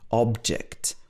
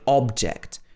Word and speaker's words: object: on the table here the stress is on the ob so it's on the first half of the word object notice that the second vowel is actually pronounced object we don't say object normally we say object slight difference there and the second one